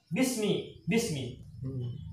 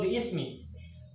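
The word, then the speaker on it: بسم: Tapi bacanya mah sama, bismi. Iqra bismi, nggak boleh Iqra bi ismi.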